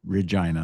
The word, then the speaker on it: Regina: It's Regina. It's Latin for queen. That's the justification, anyways. Okay. Yeah, it's on coins going back to Rome. Okay. Regina. Well, it'll always be funny. It rhymes with penis.